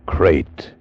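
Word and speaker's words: krait: What kind of a guy Harry Pope was, and what kind of a snake a crate is. First, the crate. You spell it K-R-A-I-T.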